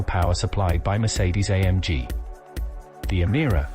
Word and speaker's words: Emira: The Emira, pronounced Emira, will eventually be priced from £59,995 and is